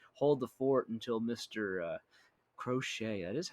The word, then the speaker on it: Crochet: But if this guy, if he can come out here and be that ace, hold the fort until Mister Crochet, that is how you say it, until Mister Drew Thorpe comes up, because Drew Thorpe's the real ace.